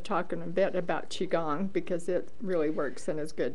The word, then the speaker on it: qigong: It's QI, which is energy. That's what it means. And gong. Gong, and it's QI gong, and it's pronounced gong, qigong.